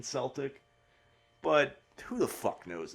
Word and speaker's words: Celtic: I think technically probably Celtic is more correct than Celtic, but who the fuck knows at this point?